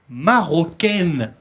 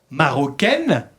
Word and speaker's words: marocain: En francés, chicos, importante, la A-I-N se pronuncia igual que la I-N y la U-N.